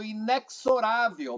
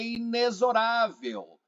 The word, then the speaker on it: inexorável: Eu falo inexorável, mas é inesorável.